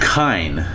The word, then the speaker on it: Kine: Kine, a term for mortals... Kine. It's pronounced kine.